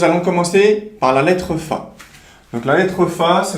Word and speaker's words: ف: Et au niveau de la prononciation, elle va se prononcer comme le f que n on a en langue française.